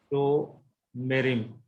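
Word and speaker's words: שׁוֹמְרִים: After a full letter vowel, Shiva is always vocal. So pronunciation will be Shomerim.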